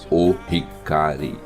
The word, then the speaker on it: Ohikari: É colocado o artigo O na frente do Hikari. Então, quando você se dirige ao objeto que é a Medalha da Luz Divina, você pronuncia o Hikari.